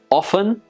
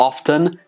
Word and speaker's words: often: pronounce the top but with the word often or often that is acceptable English has quite many